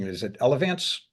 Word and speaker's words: Elevance: a public company is it I might be mispronouncing it is it elevance it's elevance Health that's correct y geez not bad so